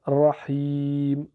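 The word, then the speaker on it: رحيم: longue ya donc Rahi et le MIM on prononce pas sa voyelle parce que c'est la dernière lettre donc Rahim donc ça donne arahmanirrahim arrahmanirrahim arrahmanirrahim 4e verset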